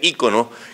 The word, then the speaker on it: icono: correcta en español del en griego se dice eicon y en inglés icon me dice icono consulte el diccionario real de La Academia Española para estar seguro y me da ambas pronunciaciones y icono luego como estoy acostumbrado